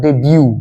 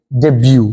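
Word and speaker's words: debut: নামে কোন কাজে নামে বানানটা কিন্তু ডি ই বি ইউ টি হলেও উচ্চারণটা ডেবিউ উচ্চারণটা কি ডেবিউ ওকে আর এর সঙ্গে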